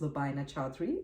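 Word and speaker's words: Lubaina Choudhry: net you can also find me on Facebook with my name which is Lina chadri I'll spell that out for you it's l u b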